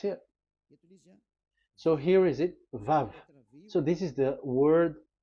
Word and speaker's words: vav: So don't change it into W.